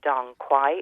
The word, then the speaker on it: Dong Quai: So Terranova do a Dong Quai. It's spelled DONGQUAI, and that has natural plant-based hormones in it.